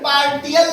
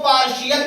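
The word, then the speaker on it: partial: एल लिखा गया है इसका प्रोनाउंस एशन पार्टल नहीं होगा इसको पार्शियल पढ़ा जाएगा क्या पढ़ा जाएगा और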